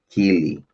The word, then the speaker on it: Kiely: Oh, how they pronounce her, Keely.